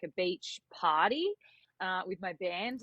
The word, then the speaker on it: Beech: were going to the beach because my last name is Beach yeah although it's spelled differently we kind of just